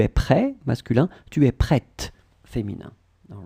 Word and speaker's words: prête: Okay, and for the feminine form, it would be tu es prête. Okay, so at the end, you just add this t. Okay, pronunciation of the t. Okay, tu es prêt, masculin. Tu es prête, féminin.